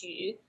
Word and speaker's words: Xu: get that right but last name is is hu but i usually just